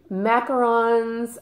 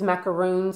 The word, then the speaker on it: macaron: this is jasmine macarons macarons are i gotta say this right macarons are the cookies macaroons are the coconut things so this is a